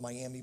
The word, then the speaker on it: Miami: wrong name it's spelled Miami but they call it miam Oklahoma and uh we